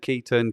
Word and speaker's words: Ketan: pronounce your name and you didn't say well i pronounced it ketan you said key turn ketone it doesn't really matter